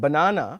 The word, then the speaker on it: banana: Say for example, the word banana has the stress on the second syllable, na, and the word Panama has the stress on the first syllable, Panama.